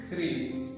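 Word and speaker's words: crib: ये आपको जाहिर करता है कि यहाँ सी जो है इसका साउंड सॉफ्ट साउंड नहीं है बल्कि हार्ड साउंड है। तो ये सी स के साथ प्रोनाउंस नहीं होगा बल्कि ख के साथ प्रोनाउंस होगा।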